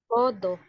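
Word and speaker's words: 포도: do do Yes po kasi yung diot is nasa middle position kaya letter D po yung pagkabigkas hindi letter T so ulit nga ulit ulit nga Ma'am Jacqueline podo podo yo is grapes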